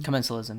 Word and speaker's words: commensalism: Commensalism? Commensalism, yeah.